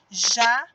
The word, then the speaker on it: jacaré: Neste caso, a última sílaba aqui, o ré, é mais forte. Então, eu falo que ele é a minha sílaba tônica.